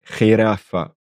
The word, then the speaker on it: jirafa: Comme je l'avais dit, le G se prononce aussi comme le J quand on a un E et un I. G, G. Et ici, ça va donner jirafa, una jirafa, une girafe.